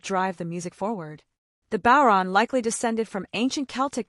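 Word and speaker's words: Bodhrán: This is a traditional Irish frame drum, pronounced Bon.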